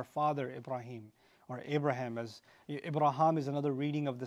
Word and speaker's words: Ibrahim: So when, you know, your Western friends may say Abraham, that's actually not entirely an incorrect pronunciation of the name.